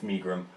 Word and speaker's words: Megrim: No, well, pronounce it right, it's Megrim.